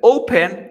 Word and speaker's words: open: Open or Open Mira open open Cómo se pronuncia open open qu crean open open la fuerza de voz está al inicio mira lo que hago